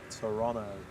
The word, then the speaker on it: Toronto: Make sure you say that correctly, people. Toronto. It's all like it's one syllable.